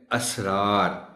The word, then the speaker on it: اسرار: سین رے الف رے، یعنی یہ صاد کے ساتھ اصرار ہے، وہ سین کے ساتھ ہے، مگر اس کا تلفظ ہے اسرار۔ وہ سر کی جمع